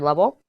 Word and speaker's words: Lovell: on him not really I just Googled how do you pronounce his name and I found a YouTube video where on his channel I guess somebody introduced him as Christopher Lovell so that's how I'm